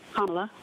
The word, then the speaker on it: Kamala: The open border promoted by border czar Kamala Harris, that's how you say her name, Kamala, continues to allow illegal entry into the country, causing chaos, disruption, and financial pressure on American cities and communities.